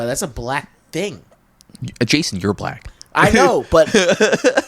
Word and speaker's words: Jaeson: Jasone. No. It's in the beginning. EJASON. He's silent. The E is silent in the way I spell it anyway.